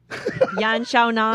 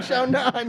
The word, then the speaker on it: Yan Xiaonan: I mean, from the last UFC fight that you won against, someone help me pronounce her name. Yan Xiaonan. There we go. Yeah, Xiaonan, exactly.